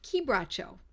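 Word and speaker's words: quebracho: it looks like it's qu bro but it's pronounced kbo and it I'd use it in a 30th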